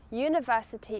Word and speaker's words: university: Remember here, ‘university’ is pronounced with a /y/ sound, so use A.